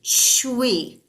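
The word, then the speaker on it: chui: And then the last one is for kidneys, and it's pronounced like Chwee, Shui, Shui, Shui.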